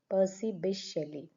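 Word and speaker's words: P. B. Shelley: Is how we pronounce P B Shelly. P B Shelly.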